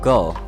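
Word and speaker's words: 五: 5 is pronounced go.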